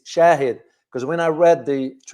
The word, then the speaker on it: shahid: It's not shahid is shahid because when I read